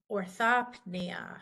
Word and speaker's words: orthopnea: we're shy right then in the middle right here with the PN right here we are going to say it so we say orthopnea hyperia same thing with